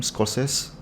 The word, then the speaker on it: Scorsese: How you pronounce the last name? Scorsese.